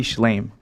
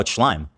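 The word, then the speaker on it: Shlaim: A Schlame. No, Schlime. I know it's spelled like Schlame.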